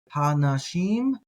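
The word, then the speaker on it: הָאֲנָשִׁים: Again, I like to pronounce the alephs when they're there. Some people might do something like ha-nashim, but I'm going to do the ha-anashim.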